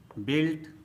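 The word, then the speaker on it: built: बिल्ट, बिल्ट। Business, business. रोग, रोग। Antique, antique. टंग, टंग। तो दोस्तों, आपको भी साइलेंट लेटर यू से बने शब्दों का इसी प्रकार से प्रोनाउंसिएशन करना चाहिए।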